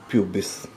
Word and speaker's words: pubis: Generally we are pronouncing this as a pubis, but actually it is pubis. But for simplicity we will pronounce it pubis.